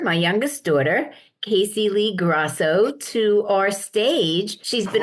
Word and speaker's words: Grosso: youngest daughter, KACEY Leigh Grosso, to our stage. She's been on this before. Yes, a Rocky girl. I know. Listen, She's a actually, Grosso. It's Grosso.